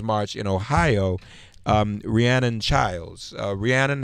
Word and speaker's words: Rhiannon: of the women's March in Ohio Rhiannon childs Rhiannon how are you good morning am i pronouncing your first name correctly yeah wonderful glad